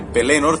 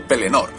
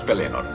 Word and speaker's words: Pelennor: Para empezar, quiero destacar que la palabra Pelennor es una palabra llana, es decir, la segunda sílaba es la tónica, pero yo a veces